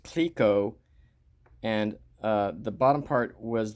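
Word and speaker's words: Clicquot: at the end and it was CLI C quot spelled pronounced Cliquot and the bottom part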